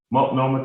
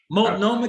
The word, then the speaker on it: Multnomah: Multnomah County. Multnomah County, Oregon.